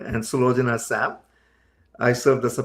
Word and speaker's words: Sulojana: apologize for this, but it's Jeeva and Sulojana. Yeah, close enough. All right. I was going in my head like, I know how to say it. Try. You're supposed to say the J. I know you're supposed to say the J, but how is everything else going on? Yeah. Sulojana. See, I knew you said it different. There was an extra syllable in there.